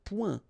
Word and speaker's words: point: Un point. Un point. Alright, so you can see that here the only difference is the final letter, okay, but then they are pronounced the same way and both of them are masculine.